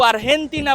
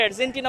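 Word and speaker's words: Argentina: পাচ্ছেন সবাই আর্জেন্টিনা বলছে স্প্যানিশে তারা কিন্তু আরহেন্টিনা বলে থাকে ইংলিশে এটাকে আর্জেন্টিনা বলা হয় তাদের উচ্চারণ বা তাদের ব্যাপারটা অন্যরকম।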